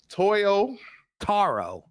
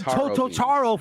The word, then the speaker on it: Toyotaro: fine with me but repeat repeat after me man Toyo Toyo Taro too toyotaro I'm GNA get it when you get it say it like that bro you been saying tooto for a year and